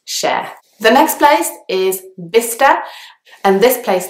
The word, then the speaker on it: Bicester: There is a C and an S there, but only the S sound is pronounced, so it's Bicester.